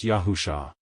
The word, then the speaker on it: Yahusha: The Savior's true name is pronounced Yahusha.